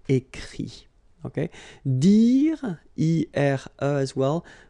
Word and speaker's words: écrit: Écrire, to write, so ire, will give it, écrit, okay. Remember that even if you've got this final t, you don't pronounce it, so it goes like écrit, okay.